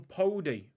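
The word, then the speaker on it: Paudie: what what's the one podi podi here i mean p-a-u-d-i-e but it's it's pronounced p-o-d-i-e basically i've gone straight past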